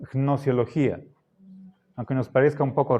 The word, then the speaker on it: gnosiología: Podríamos decir nociología. Y nos saltamos la G. Pero para ser fieles a la etimología deberíamos pronunciar gnosiología, aunque nos parezca un poco raro.